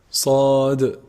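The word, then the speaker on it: ص: The sad letter is a heavy letter, and it's pronounced actually from the tip of the tongue when it relies or like lies on the what? On the bottom incisors.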